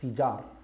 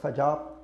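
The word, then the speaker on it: فجار: Harb al-Fijar is بفتح الفاء, it's Fijar, not Fajar, not Fujar, but it's Fijar, بفتح الفاء. So you make a kasra on the fa.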